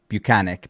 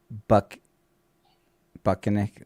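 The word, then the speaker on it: Buchenick: If you just had to pronounce that now that when we obviously know it's Bucanick, but if you look at that, it would be Buck Buckanick or Bukaki, one of them.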